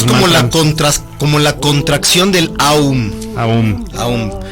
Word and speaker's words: Aum: la contracción, es el Om como tal. Claro, pero se debe pronunciar Aum. En realidad, se pueden pronunciar de las dos en realidad, pero sí es más completo hacer como el Aum, porque eso te permite